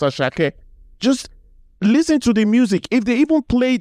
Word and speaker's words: Asake: tell them that um asake is naturally pronounced asak not asake why should you still be calling him aaki at this point if you Google it just Google pronunciation of that it will tell you that his name is pronounced as Shake just listen to the